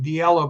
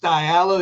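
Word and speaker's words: DiLello: longest cocktail party by Richard dialo and I pronounce the guy's name dielo but Joey's gone it's pronounced dialo is a good friend of ours and because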